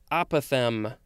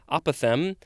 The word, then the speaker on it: apothem: word for this episode it looks like it's pronounced the same way as the previous word apothem but it is spelled